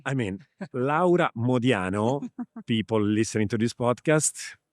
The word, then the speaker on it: Laura Modiano: Thank you for also pronouncing my name in the proper Italian way. I mean, Laa Modiano, people listening to this